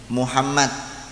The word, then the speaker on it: Muhammad: Cuman untuk mim itu biasanya kalau dibaca dhammah jangan sampai menjadi o, harus tetap bacanya mu. Muhammad.